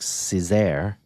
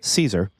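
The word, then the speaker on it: Cesare: author is Adam Caesar it is spelled c s a r e so it looks like Cesar but it's Caesar and he's written three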